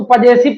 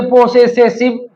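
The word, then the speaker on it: possessive: अब इसको कौन पढ़ेगा पजेसिव, तो ये पोसेसिव है ना।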